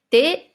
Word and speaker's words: tes: le dernier mot t regardez bien comment ça s'écrit T e s c'est comme le mot qu'on a vu mais mais là on va dire t ça veut dire quand